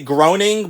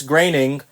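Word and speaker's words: Groening: you say his name a lot of people say groaning but it's graining and he is the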